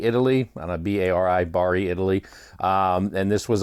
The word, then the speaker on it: Bari: actually took place in uh I'm assuming I pronounced this right Bari Italy on a b-a-r-i Bari Italy and this was on the MSC